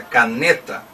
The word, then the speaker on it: caneta: Caneta ou canetá. É caneta. Então a sílaba tônica é a penúltima, o ne.